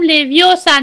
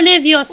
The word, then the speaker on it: Leviosa: No se dice así. Es Wingardium Leviosa, no Leviosa.